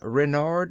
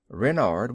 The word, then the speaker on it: Renard: official name is King Renard IV Renard with the accent on the ren what's Ren asked button